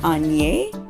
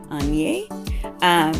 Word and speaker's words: Aigner: So yeah, the G does not have that hard G sound like in English. So it actually sounds like 3 letters. Aigner. Aigner. So you could spell it like in your head, A-N-E, with the E sound having that A sound, or the E having